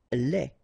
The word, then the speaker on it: lait: Lait. Un lait. Okay, so the only difference is the final thing here, they, you don't pronounce it, they, you don't pronounce it, so phonetically you only have this lait.